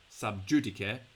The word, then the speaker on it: sub judice: You can just say it's, in the English pronunciation, sub judice, and you are not allowed to talk about it because it's being talked about in a court somewhere.